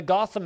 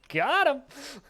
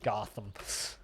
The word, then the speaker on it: Gotham: I always thought it was pronounced got him. I like this pronunciation. We should roll with it now as the official and only proper pronunciation of the word Gotham.